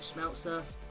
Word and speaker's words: Schmelzer: of the week so left back we have schmelzer that's how you pronounce it again sorry for um 77 pace